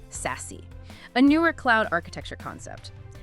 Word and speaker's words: SASE: Secure Access Service Edge, pronounced SASE.